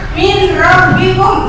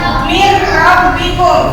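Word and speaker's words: مِن رَبِّكُم: mung ini juga sama nun mati menghadapi ro ditulisnya minbikum tapi dibacanya mirbikum Nun matinya dimasukkan ke dalam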